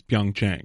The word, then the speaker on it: Pyeongchang: Pyeongchang. It's Pyeongchang. Pyeongchang.